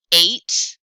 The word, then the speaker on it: eight: really say the t eight what is that gh doing there eight sign oh another